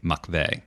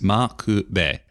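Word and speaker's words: M'Quve: part of the name there's no V sound in Japanese so when pronouncing loan words with V sounds in them you'll usually use the B sound and so to our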